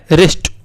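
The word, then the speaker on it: wrist: है सुनने में वेस्ट नहीं है हमारा वर्ल्ड रिस्ट अब देखिए हम हटाते बेटा डब्लू को हटाते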